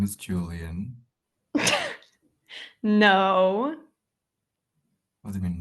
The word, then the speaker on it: Julian: So, the way you actually pronounce my name is Julian. There you go. Julian.